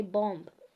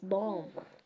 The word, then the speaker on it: bomb: I comb my hair bomb you don't say bomb it's bomb Thum Thum not Thum